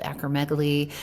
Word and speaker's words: acromegaly: Can we just briefly talk about acromegaly? Is that how we pronounce it?